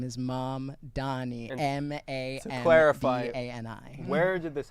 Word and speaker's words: Mamdani: when we're talking about the sorts of laws that are going to be passed and the sorts of promises that Mamdani is unleashing on Cuomo, I'd like to quote Mamdani here on one of the debates to Mr.